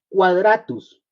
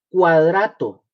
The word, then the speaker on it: Quadratus: que vamos a ver, se llamó Quadratus, así Quadratus. Se escribe con Q, Quadratus, Q-U-A. Dratus, Quadratus, es el primero que vamos a ver. El nombre, mis hermanos, griego de Quadratus es cuadrato, Cuadrato, como decir cuadrado, pero es cuadrato.